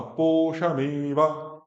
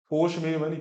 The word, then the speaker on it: पोषमेव: आगे, हाँ, पोषमेवा, पोषमेव नहीं, पोषमेवा।